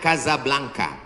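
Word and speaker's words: Casablanca: kuliah nama negaranya Maroko ibukotanya tulisannya casablangca cara bacanya Kadzab langka Kaza artinya rumah Blanca artinya putih Kasablanka rumah warna putih bahasa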